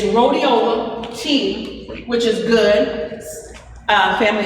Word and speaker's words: rhodiola: Don't let me forget about rhodiola tea. And it's rhodiola. And family, I'll put down some things as I come back. It's rhodiola tea, which is good.